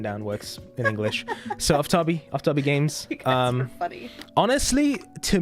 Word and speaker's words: Aftabi: chat yeah so and if if you're unsure about pronunciation in English you can just say aabi um in Persian if I want to use my Persian accent for a second it's ofab but ofab works better in English because of how the